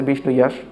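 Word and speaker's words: বিষ্ণুযশ: এখানে কল্কি অবতারের পিতার নাম বলা হয়েছে বিষ্ণুইয়াস। শব্দটা অনেকটা বিষ্ণু যশের মত। আসলে উচ্চারণ বিষ্ণুইয়াস।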